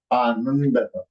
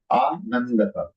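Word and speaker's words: आनन्दः: In Sanskritam, it will become Anandaha. Anandaha.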